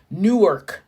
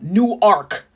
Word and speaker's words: Newark: get this right because Newark New Jersey is different PR pronunciation from new ark Delaware and you have better say new arc it's not Newark new ark new ark home of the University